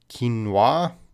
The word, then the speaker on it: quinoa: it I go to Cambridge when I check pronunciations whoa quinoa quinoa it's the seed of a South American